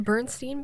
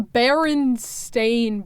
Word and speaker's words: Berenstain: Is it not the Bernstein Bears? I thought it was it's actually the Berenstain Bears.